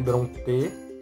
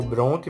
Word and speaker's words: Brontë: E vai ser a obra O Morro dos Ventos Uivantes, da Emily Brontë, ou Bronte, vai depender da sua pronúncia.